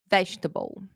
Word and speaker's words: vegetable: wrong sometimes okay so this one we say vegetable vegetable comfortable comfortable definitely definitely okay so uh